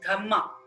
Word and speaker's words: Dhamma: In Pali language, dharma is pronounced as Dhamma, Dhamma.